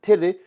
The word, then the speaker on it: tere: The word tere is spelled T-E-R-E. Repeat after me, tere, tere, tere.